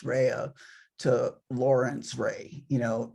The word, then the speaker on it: Rea: and legally changed his name from Lorenzo Rea, pronounced Rea, to Lawrence Ray, you know, just Americanized his name.